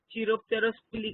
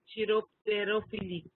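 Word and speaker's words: chiropterophily: चिरोप्टेरोफिली का spelling wrong है यहाँ पे. इट इज चिरोप्टेरोफिली. चिरोप आना चाहिए, तेरो आना चाहिए, फिली.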